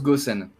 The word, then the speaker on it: Gossen: C'est Jossen. Okay. Non, ça se prononce Gossen.